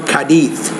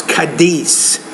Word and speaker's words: Cádiz: The S in English is not a TH sound. I know if you're in Spain, you might say, well, I'm from Cádiz, España, whatever. But no, it's Cádiz.